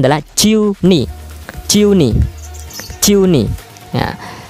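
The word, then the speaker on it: 十二: Kemudian angka 12 ya sama juga pengucapannya adalah ciu ni.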